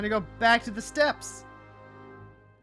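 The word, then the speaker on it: Steppe: Back to the step. I was unaware that we uh had storm blood locations unlocked. I thought that was the steep. It's pronounced step.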